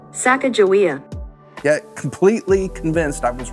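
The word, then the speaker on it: Sacagawea: minute of the conversation I Googled pronounce saaka joa I was totally wrong saaka jaia get completely convinced I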